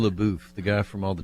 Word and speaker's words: Shia LaBeouf: How do I pronounce? Shia LaBeouf, the guy from all the Transformers movies.